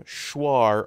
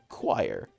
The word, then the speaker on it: choir: the interesting thing though English has the word choir spelled with a CH it doesn't become schwar or schwire it's choir and there are times